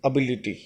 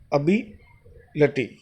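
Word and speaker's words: ability: एबिलिटी नहीं होता, इट इज एबिलिटी। अ से शुरू होता है, अबिलिटी। एबिलिटी होता है।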